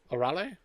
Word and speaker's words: Arale: a r a l e a a arol arale arel I have no idea how to pronounce a r a l e yeah arale